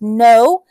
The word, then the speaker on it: know: So KN is another word with KN is know, like I know my spelling words. The K is silent.